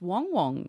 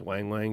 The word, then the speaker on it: Wang Wang: We've only just learned how to say their names. It's Wong Wong. Wong Wong, Yeah, Footy. Yeah. but everyone knows him as Wang Wang.